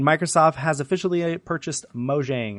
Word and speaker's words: Mojang: Number 9, Microsoft has officially purchased Mojang, or Mojang, I believe it's actually pronounced, which is the creator of Minecraft.